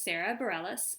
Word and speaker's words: Sara Bareilles: is not how I predict it would be pronounced in France but it's her truth and so her name is Sara Bareilles and the song is a song called brave